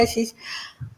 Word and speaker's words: Ashish: Thank you so much कि आपने join किया आशीष। क्या आप अभी कुछ लोग लिखना शुरू करेंगे कि मैं आपके नाम की प्रोनाउंसिएशन ठीक नहीं कर रही, तो मुझे पहले